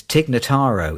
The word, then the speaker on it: Tig Notaro: name that I'm going to get wrong it's TIG nataro isn't it well done well done you did